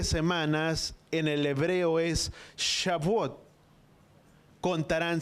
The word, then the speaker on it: Shavuot: Pero la palabra hebrea es Shavuot. Shavuot, di conmigo, Shavuot.